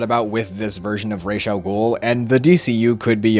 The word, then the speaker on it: Ra's al Ghul: introduce both Talia and Ra's al Ghul. Oh, sorry. I don't want to make myself seem like an idiot. It's pronounced Ra's al Ghul.